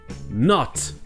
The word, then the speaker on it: not: En anglais britannique, vous aurez le son court O.